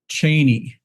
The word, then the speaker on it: Cheney: he says uncle uh how is our name pronounced? Is it Cheney or Cheney? And uh the guy paused a little bit and says, "Cheny." And Dick says, "Great.